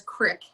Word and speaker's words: creek: really bothers me is they pronounce creek as crick yep and then the